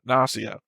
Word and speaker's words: Gnosia: So gnome is gnome. Gnostic is Gnostic, and Gnosia would naturally be pronounced Gnosia.